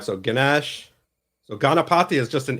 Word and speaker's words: Ganesh: that he's known for oh it's actually ganesh yeah this is spelled garnish no ganesh oh gosh stop thinking of food spade so steve why